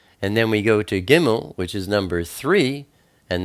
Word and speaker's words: gimmel: we turn to gimmel gimmel is the number three and it's pronounced like a g like get it's a picture of